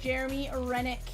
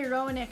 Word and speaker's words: Roenick: Jeremy Rennick. Hall of Fame hockey player. Jeremy Roenick, sorry. Weak Circus Lemonade, can't pronounce it.